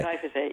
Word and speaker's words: glyphosate: Glyphosate.